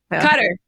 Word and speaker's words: Qatar: was serving at alud Air Base in Qatar katar Qatar cter C thank you there it is cter I always think I know how to pronounce it and then I say it and